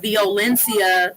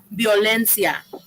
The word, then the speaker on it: violencia: The way he said denuncia, violencia, that's not Spanish. It should be denuncia, violencia, right?